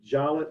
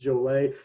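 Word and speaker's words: Jollett: park by mikhail jolet it looks like it ought to be jawlet but it's pronounced jolay he's in a band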